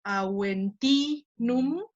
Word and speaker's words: Aventinum: estoy poniendo en rojo, solamente las que tienen el macrón, ahí va a caer el acento.